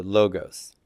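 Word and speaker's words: λόγος: word in Greek uh I pronounce that logos logos in modern Greek they pronounce this as an o sound so logos so if you ever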